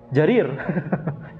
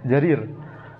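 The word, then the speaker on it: جرير: Jim yang kemudian diikuti dengan ya yang terletak di antara dua ra. Jadi bacanya apa? Jarir. Jarir.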